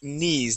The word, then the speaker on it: knees: been uh tricking people they think that's a that K uh is pronounced but it the word is knees that K is silent okay good job um